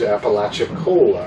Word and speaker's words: Apalachicola: going to, which is Apalachicola. I think I actually said it right.